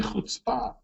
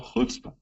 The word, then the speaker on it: chutzpah: him with a great holy chutzpah, or chutzpah, depending on how you want to pronounce it.